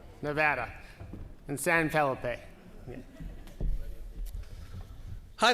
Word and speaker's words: Nevada: So now we'll move on to John Ralston talking about Nevada. I got it right? Nevada? Oh, sorry, it's the Smith. Nevada? Nevada.